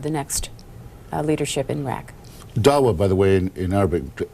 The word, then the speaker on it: Dawa: Speaking of Ambassador Bremer, the LA Times says today that they say that a member of the, is it Dawa? Is that how that's pronounced? Yes. The Dawa party, who was at